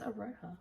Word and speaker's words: Aroha: And then I saw one by Frances Araha. Aroha knits. Araha. Araha. Yeah. Oh, that was Aroha.